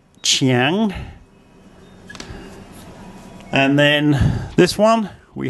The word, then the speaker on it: Chiang: And we have the chor chang, the ch sound as the initial consonant, and ngongu as the final consonant. Ngongu is easy for foreigners to pronounce as a final consonant. It's not so easy as an initial consonant. So both places start with chiang.